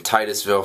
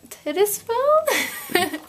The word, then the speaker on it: Titusville: So, another Andrew sent us a letter and uh he lives in Titusville, Florida. And of course, Gray read the name wrong. And what did you call it? I didn't call Tittisville.